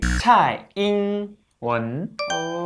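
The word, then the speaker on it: 蔡英文: 정확한 발음을 차이잉원.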